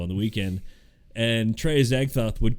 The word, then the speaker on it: Azagthoth: Azagthoth. Yeah. That's how you actually pronounce it.